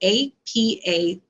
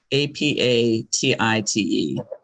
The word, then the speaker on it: apatite: It is blue, like the color blue, and then the word appetite, apatite. Okay, apatite. Okay. So a different spelling of appetite, but same pronunciation.